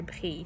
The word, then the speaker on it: brillent: We add ent. And we don't pronounce it. So we only pronounce like it's an E.